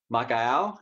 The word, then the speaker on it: Makaiau: I've also got Steve Zarpas, co-founder, and we've got Jheryl Makaiau.